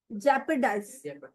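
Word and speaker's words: jeopardize: Next, again, जेपरडाइज, in danger, खतरे में होना। ओ, इसमें से साइलेंट होगा ना।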